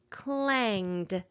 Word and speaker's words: clanged: So that means with this word, suffix ed does not have an extra vowel sound, and it is not adding an extra syllable.